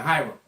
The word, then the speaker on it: Hiram: I said his name wrong, but yeah, Hiram.